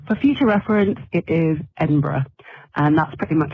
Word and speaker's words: Edinburgh: It's not Edinburgh either. It's Edinburgh. Edinburgh. That's it.